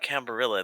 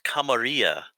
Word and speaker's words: camarilla: sorry sorry sorry the the correct pronunciation now is not cambrilla the game the game corrects us uh uh plebeians it's a camarilla everybody says camaria in